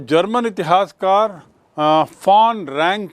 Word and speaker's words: von: वैसे तो VON है इनके नाम में, लेकिन उच्चारण होता है फॉन, इसको याद रखेंगे।